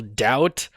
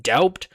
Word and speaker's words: doubt: Now, some English words, for example, doubt um is not uh it's spelled with a B not because that's how it was originally pronounced, doubt, but because French spellers